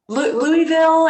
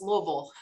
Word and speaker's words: Louisville: right yes louisville kentucky louisville if you're not from there if you're from there it's louisville hi everybody she's a she's